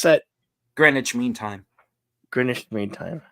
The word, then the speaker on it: Greenwich: What how do you pronounce that? Greenwich Mean Time.